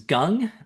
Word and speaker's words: Gung: And so before we dive in though, my name is Gung. Um uh it's pronounced like gung-ho if that's helpful.